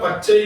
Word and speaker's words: பச்சை: வல்லினத்துக்கு பக்கத்துல சான்னு தான் உச்சரிக்கணும், சா உச்சரிக்க கூடாது. பச் அப்படின்னு இருந்துச்சுன்னா பச்சை தான், பச் சை சொல்லக்கூடாது.